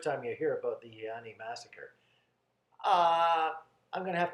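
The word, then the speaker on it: Eieyani: war on twin flames the there's the word iyani Massacre that's how I pronounce it hey Annie do you want to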